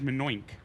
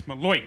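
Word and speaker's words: malocchio: He says Manoink, and it's Maloik.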